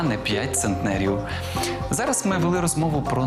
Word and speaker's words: центнер: 3 с ме А ось одиниця виміру маси яка дорівнює 100 кг називається не центнер а центнер Отже п'ять центнерів а не пять центнерів Зараз ми вели розмову